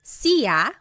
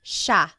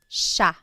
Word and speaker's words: siya: It looks like it should be pronounced siya, but it's actually pronounced siya, siya.